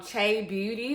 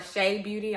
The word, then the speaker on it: Chebeauty: It's from Cha Beauty or Shea Beauty. I want to make sure I'm pronouncing it right. Shea Beauty.